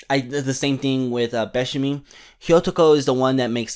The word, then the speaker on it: Hyotoko: Fire is pronounced hi, and man is pronounced otoko. So if you combine them together, it should mean Hyotoko. Hi otoko.